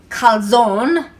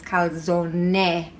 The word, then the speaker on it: calzone: or as americans say calzone but the e is actually pronounced so it's called zone not calzone so that's it all